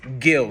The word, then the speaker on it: Gil: to Kanye West and it's Gil Scott Heron like like um like fish gills yeah yeah no no no it's uh yeah no it's cool it's Gil Scott uh sorry it's